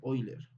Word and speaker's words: Euler: O también, bueno, en alemán creo que se pronuncia Euler.